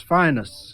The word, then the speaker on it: Phineas: Well see they used to pronounce it almost like with us finest. Yeah finest you know that's it was almost like beginning with an F.